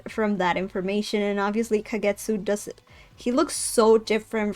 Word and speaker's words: Kagetsu: and this is because the individual can be for flower can be pronounced as Ka while the one for Moon can be pronounced as Getsu so kagetsu so now about the